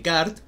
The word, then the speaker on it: Descartes: el concepto de analizar como de kart que se escribe descartes que entienden por analizar